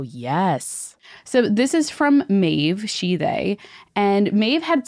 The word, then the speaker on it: Maeve: Maeve starts, hey, spirits team, it's Maeve. I also appreciate Maeve that says pronounced like cave, which is very funny to me.